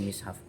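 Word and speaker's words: مصحف: Untuk mengenai cara pelafalan mushaf itu ada tiga macam, yaitu mushaf, mashaf, dan mishaf.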